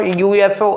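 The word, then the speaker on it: UFO: यहाँ पर ये यू मत देखिएगा, क्योंकि pronunciation of यूएफओ is being as वाई यू, ठीक है। यू जो ये यू लिखा हुआ है, यू is being pronounced as वाई, नॉट एज ऊ नहीं है, ये या है।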